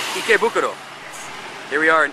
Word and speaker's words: Ikebukuro: Because I totally pronounced it wrong. Ikebukuro.